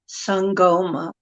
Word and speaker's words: Sangoma: Sangoma.